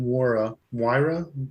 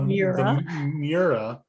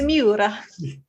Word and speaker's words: Miura: Is an all bare metal body Lamborghini Moira. I don't know how to pronounce these words. It's Moira. It's Moira. It's a Myra. It's a Lamborghini Myra. The Miura.